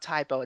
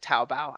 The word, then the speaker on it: Taobao: And not Tybo, it's like Taobao. I Taobao. totally Yeah, butchered that name, that's okay.